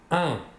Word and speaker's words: un: Il se prononce un, mais s'écrit UN. À la forme affirmative, je vais vous donner un exemple, nous pourrons dire « Il a un livre ».